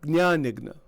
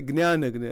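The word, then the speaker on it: ज्ञानयज्ञ: That word is pronounced, that Gna is pronounced in different ways. But in Sanskrit, I believe it's pronounced Gyan Yagna. In Gujarati, it's a Gyan Yagna, and Gyan Yagya in Hindi.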